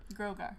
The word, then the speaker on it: Grogar: Grogar.